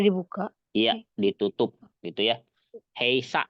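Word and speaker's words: 閉鎖: Heisa itu bukan heiki. Heisa. Ya, karena dia mirip ya, mirip apa? Kayaki ya, tapi dia sa itu cara bacanya sa ya.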